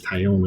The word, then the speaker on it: Taillon: It's not Talon, but it's Taillon, I think.